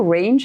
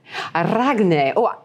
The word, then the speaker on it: Ragne: with uh so they always start are you range i'm like i am ragna that you know that's how i'm going to pronounce it from now on exactly perfect and